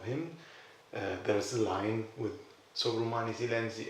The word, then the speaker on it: Sovrumani silenzi: Sovrumani silenzi.